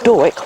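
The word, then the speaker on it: Dawyck: nut okay and it's a variety called Doric which is spelt da Wyck that was a chance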